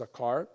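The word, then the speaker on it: זכר: So this comes from a Hebrew word that's pronounced zakar.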